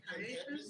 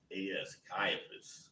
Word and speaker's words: Caiaphas: Is it Caiaphas? Right. Right. Have the way you pronounce it. Caiphas.